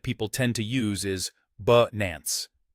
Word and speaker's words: Binance: Well, as we explored earlier, the correct pronunciation that people tend to use is Binance. The key is that the I in Binance is short, similar to the A sound in about.